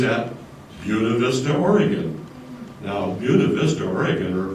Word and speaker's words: Buena Vista: Now, Buena Vista, Oregon, or Buena Vista as you might pronounce it, Buena Vista, Oregon, what was that?